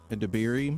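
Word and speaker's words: Edebiri: Well, uh, Ao Der, how do you say her last name? AO Adiri. Yes, thank you.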